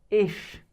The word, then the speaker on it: ich: The first one that we use that is personal pronoun is ish I.